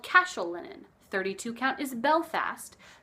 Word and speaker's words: Cashel: stuff those names by the way it is pronounced Cashel and I know that because Cashel is a